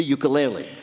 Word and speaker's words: ukulele: living masters of that island's traditional instrument, the ukulele. Peter's first question to Taimane. How the hell do you pronounce ukulele?